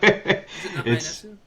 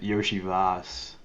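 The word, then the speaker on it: Iosivas: Yeah, you probably have no idea how to pronounce it, but is it not Ionesu? No, it's you pronounce it Yoshi Voss.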